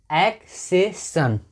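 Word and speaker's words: accession: तो हो गया एक्सेशन। क्या हो गया? एक्सेशन। अब यहाँ पे सी को स पढ़ रहे हैं और यहाँ पे सी का उच्चारण क हो रहा है।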